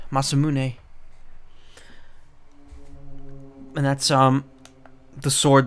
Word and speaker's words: Masamune: in there masamune I mean that's how it's pronounced masamune and that's um the sword that frog has